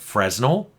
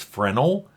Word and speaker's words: Fresnel: people that saying it's frenal that the S is silent and I'm like okay